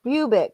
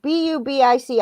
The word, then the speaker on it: Bubic: It's Chris Bubick, Bubic. I don't know how to say his name exactly, but okay. I think it's Bubic because it's Yugoslavian. I don't think there's a bitch at the end of it.